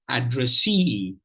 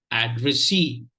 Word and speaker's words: addressee: So if there is a secondary stress, then automatically the first syllable will take the secondary stress.